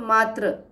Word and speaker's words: मात्र: उच्चारण में बहुत थोड़ा सा ही फर्क है मातृ और मात्र, लेकिन अर्थ में अंतर है।